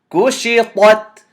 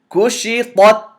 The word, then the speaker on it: كشطت: But the word is kushitat, ta, and then ta. Kushitat, Whoops. كشطت.